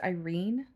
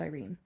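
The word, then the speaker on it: Irian: i a n but according to the audio book which I'm trusting it's pronounced Irene um so she meets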